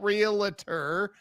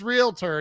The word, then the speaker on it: realtor: I'm like, there's no vowel between the L and T. Why are you doing that? It's not realtor, it's realtor, and you're saying it right.